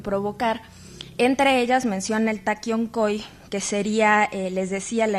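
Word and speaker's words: Taqui Onqoy: En todo caso, el Taquiongói o Taquiongo, que sería más bien como la pronunciación específica del quechua y más bien hacia el aymara, va a ser, por un lado, una suerte de enfermedades.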